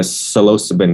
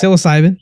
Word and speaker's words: psilocybin: I read 6 years ago on, the mushrooms, the psilocybin mushroom, even though I'm not pronouncing it right. I think it's just, you're good. Psilocybin.